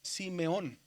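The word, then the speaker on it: Συμεών: Simeión, dice ahí, pero la pronunciación es Simeón. Recuerde que esa segunda letra que está ahí es la letra eta. Y la letra eta se puede decir como E o se puede pronunciar como I.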